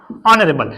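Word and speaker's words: honourable: दूसरा देखो बेटा जैसे ऑनरेबल, क्या होता है चलो ऑनरेबल है ना, क्या होता है ऑनरेबल, ऑनरेबल। देखो यहां पर हम एस से नहीं पढ़ेंगे, कहां से पढ़ेंगे अ से, तो ऑनरेबल होता है, क्या होता है चलो ऑनरेबल।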